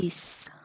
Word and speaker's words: this: This. Ah, there you go. So that's the difference between and with this one, it tends to be shorter, this, but this one is longer. These, this, these, this, these.